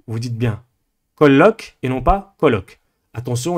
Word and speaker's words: colloque: Le terme colloque, d'accord, un colloque par exemple universitaire, vous avez 2 L. Eh bien, vous insistez sur le L parce qu'il y en a 2. Vous dites bien colloque et non pas colloque.